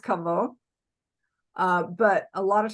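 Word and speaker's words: кого: in this case it's spelled Cavo or it's pronounced kavo uh but a lot of times it'll uh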